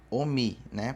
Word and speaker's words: omi: Eu acho muito difícil alguém ter ouvido Omi, né, para pronúncia de água. Todo mundo conhece que é Omin, mas hoje vocês vão entender o porquê que é Omin.